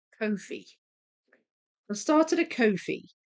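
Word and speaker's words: Ko-fi: I think it's pronounced Kofi. I started a Kofi. I think it's meant to be a play on the words no fee, but also coffee. And it's like buy me a coffee.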